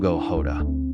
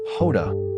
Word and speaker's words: Jota: know him as Dio Hod. The J pronounced like Hoda in Portuguese, a name that soon echoed in every major footballing arena.